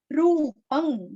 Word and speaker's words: रूपं: रूपं, यहाँ का रू दीर्घ, पहला रू रस्व है, दूसरा रू दीर्घ है।